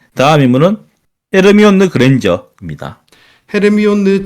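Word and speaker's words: Hermione: 다음 인물로 넘어가 보도록 하죠 예 다음 인문은 헤르미온느 그랜저 있니다 헤르미온느 진 그랜저 아 그 이게 발음이 아마 한국만 그럴 거예요 예 맞아요 헤르미온느라고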